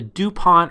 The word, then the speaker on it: DuPont: all of this together with something called the DuPont ratio analysis framework hey is this the same